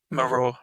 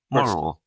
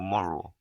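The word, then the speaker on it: Moreau: Monroe, not Monroe. That's what I said, isn't it? Monroe. Monro. No, it's not Monro. Monro. It's Mororrow. Moro.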